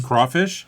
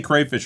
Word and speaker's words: crawfish: How would you pronounce that, Dan? Crawfish. Crawfish. Some people say crayfish. We say crayfish around here.